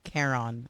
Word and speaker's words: Charon: Oh, Charon is how it's pronounced. Hayes' idea. Clara, Hayes, Anders, Rebecca, Opal, Nyoka. Charon.